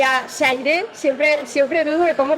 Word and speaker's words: Xayree: que contentar a todo el mundo, y a Shaire, siempre dudo de cómo pronunciarlo, Shaire. Sí, Shaire.